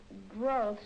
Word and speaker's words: growths: That's a long O, Mike. How do you pronounce O-W? O? Yes. Growths. That's right.